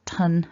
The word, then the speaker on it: ton: right hand column that although four of them are spelt with a u we've got ton at the top with an o but the pronunciation is the same as the other four